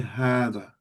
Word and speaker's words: هذا: hear me pronouncing it, I'm giving the ha an extra syllable, which is, I'm actually saying hada. And if you see in the Quran, you'll see a little dagger sign. So even though it's written as hada, we say hada.